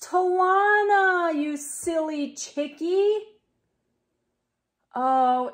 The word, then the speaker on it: Talona: jokes yesterday you told me her name was pronounced talona but it's not it's pronounced Tawana you silly chicky oh it's okay I forgive